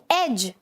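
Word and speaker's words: edge: तो मैंने क्या बोला? जी से पहले का डी मोस्टली साइलेंट होगा. जैसे एग्जाम्पल देखो, एज.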